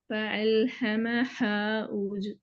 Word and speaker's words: فألهمها: இந்த சொல் நீங்க உச்சரிச்சது பிழையே. இப்ப فألهمها.